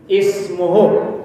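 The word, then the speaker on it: اسمه: Menurut rumus dibaca u karena huruf ketiganya u. Tapi mengikuti ahli baca, menurut ahli baca, alif ini dibaca dengan bunyi i. Ismuhul Masihu Isa bin Maryam wajiha. Silakan baca. Ismuhul Masihu Isa bin Maryam wajiha.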